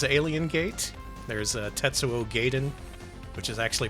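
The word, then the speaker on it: Gaiden: There's a Tetsuo Gaden, which is actually pronounced Gaden in game.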